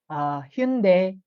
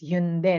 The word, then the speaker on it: Hyundai: kilala natin like Kia, Hyundai. So ang pronunciation kasi is Hyundai, no? Hindi Hyundai. But kilala natin siya as Hyundai, right? But in Korean, they call it Hyundai. That's how they pronounce it.